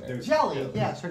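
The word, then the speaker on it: Jale: Jayle. Yeah. Okay. Jaylee. No, you're Jelly. mispronouncing it. There's- Jelly.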